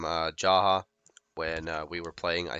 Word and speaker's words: Jaha: So next we've got Jaha or Jaha. I don't think anybody knows how to pronounce his name properly. I've even heard it pronounced Yaha. Um, I think it depends on where you come from, and I think that it really doesn't matter. My friend and I, we called him Jaha when we were playing,